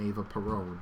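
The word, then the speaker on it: Eva Perón: Peron Foundation or the foundation Ava Peron if we're going to go with how the Spanish pronounce things I mean or how non-english languages do it so prior to the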